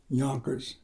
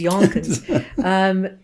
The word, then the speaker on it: Yonkers: But it also rhymes with bonkers.